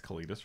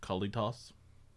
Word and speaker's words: Kalitas: i guess you will i think it's kalitas right a little regular i pronounced it kalitos okay well that's good